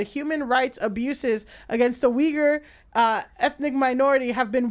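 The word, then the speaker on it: Uyghur: a congressional report titled fast fashion and the yugur genocide Jesus Christ yes I'm sorry I did not know we were going to get weager genocide weager yeah sorry I was like I'm I'm just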